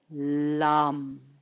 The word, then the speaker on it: lam: as you bring your awareness around your chakra lump deep red lum saying this to yourself silently